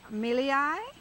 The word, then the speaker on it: milii: It's called Euphorbia milii.